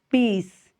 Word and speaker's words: lápis: o acento agudo lá lápis então lá Qual é a sílaba mais forte albo albo Então qual é